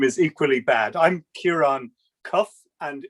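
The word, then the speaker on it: Ciarán Cuffe: uh providing the last presentations here so it's sierra cuff uh sorry for an awful pronunciation maybe a member of the european parliament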